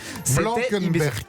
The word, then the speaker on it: Blankenberge: Blankenberg. On dit Blankenberg. Ça a été mon stress toute la nuit. Comment on prononce ça?